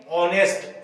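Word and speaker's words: honest: नहीं हो रहा है एच क्या है इसमें साइलेंट है इसमें आवाज किसकी आ रही है ऑनेस्ट ओ है ना तो यानी कि एन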